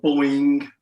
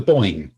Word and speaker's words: Boyne: just painting some Battle of the Boyne 17th century musketeers, and I've just discovered that they've got a load of flash on their shoulder, which looks like feathers.